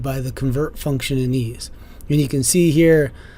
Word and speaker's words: EES: EES, which is pronounced EES, is an acronym for Engineering Equation Solver.